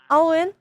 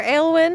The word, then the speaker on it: Aelwen: Owen. Or Awen. Owen. Owen. Ollwen. Either pronunciation works.